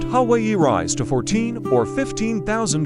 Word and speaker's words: Hawaii: They are mountainous, and the summits of Hawaii pronounced Hawaii rise to 14 or 15,000 feet.